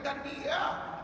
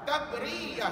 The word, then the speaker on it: tabriah: Jangan salah sebut puan ya. Ada pelajar sebut apa tahu? Mat tarbiyah. Bukan tarbiyah, tabriyah. Sebut tabriyah.